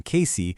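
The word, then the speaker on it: Cayce: More recently, their lapidary workshop was running out of a lease space in Casey, and that's pronounced KC.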